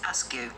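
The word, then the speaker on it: Askew: names uh shawn says our surname is ask you pronounced ask you uh my younger brother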